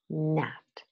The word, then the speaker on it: gnat: cologne, gnarly, new, knocky, gnat. I used American pronunciation of these words, but in both languages, the G is mute.